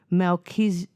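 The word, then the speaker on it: Malkitzedek: it's pronounced in Hebrew Melisedc M zedc Zedc me zedc so in Hebrew it's actually pronounced like that and it goes my king is righteousness or king of righteousness.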